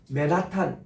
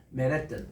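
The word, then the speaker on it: Manhattan: 그런 식으로 우리가 이런 인터내셔널 이게 이제 액센트를 어디다 프라이머리 두는지 액센트인데 맨하탄 이런 것도 맨햇 이렇게 발음하게 해요. 맨햇 그리고 뜬 약간 지나가듯이 합니다. 맨해튼 그러면 그분들이 알아들어요. 맨하탄은 못 알아들어요. 내가 미국 가자마자 제일 스트레스 받은 것이 아니 맥도날드 내가 지금 찾았어요.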